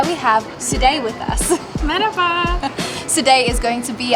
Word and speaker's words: merhaba: So if we would like to say hello, we say merhaba.